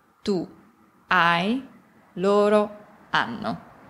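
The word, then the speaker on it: hanno: a abbiamo avete anno in italiano non si pronuncia mai l'arca quindi io ho anche se vedi un acca non si pronuncia quindi io o tu hai loro anno e per finire ovviamente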